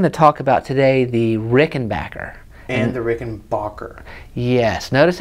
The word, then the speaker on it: Rickenbacker: the company that makes Rickenbacker --zz says you pronounce it Rickenbacker and so I'm thinking I should start pronouncing it Rickenbacker yes I wonder if it's because we're all